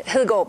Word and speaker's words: Hedegaard: Well, in Danish, Connie Hedegaard, but nobody can say that.